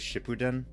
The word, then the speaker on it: Shippuden: watch he's watching shapoon i've heard a lot of people pronounce it as shippuden that's probably the correct way to pronounce it did you guys hear